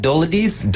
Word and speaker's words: Dolidze: It's Dolidze? Dolidze. Yes. Spelling is terrible for that pronunciation, but it is what it is.